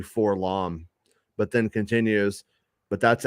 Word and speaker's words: 4-LOM: because to this day I don't know if it's pronounced forlam or four l o m um Charles says it's actually for long but then continues but